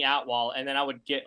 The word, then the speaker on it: Atwal: good one okay and it's so close to your real name the way it sounds phonetically it is it is very close yeah remember I used to always tell my name hey I'm at wall and then I would